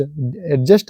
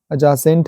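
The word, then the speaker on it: adjacent: silent हो गया एसेंट एडजेसेंट नहीं है वो एसेंट है डी के बाद जे आया है ये जो कुछ कुछ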